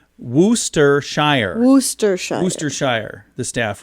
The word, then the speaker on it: Worcestershire: so by the way they say it's pronounced wooster shire worcestershire booster shire the staff wrote in a comment okay so i think i said warchester i don't know what